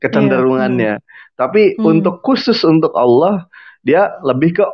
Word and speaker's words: Allah: Walaupun tertulisnya alif lam lam ha menggunakan apa namanya, menggunakan vokal A ya, tapi dia tidak dibaca akhirnya vokal A, tapi vokalnya lebih ke o ah Allah.